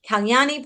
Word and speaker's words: Kyani: the best way possible and today I have Kyani Pardesi.